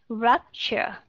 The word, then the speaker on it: rupture: Rupture. Future. Đúng rồi. T-U-R-E ở trong này được phát âm là C-H. Và âm đó là âm schwa sound and R.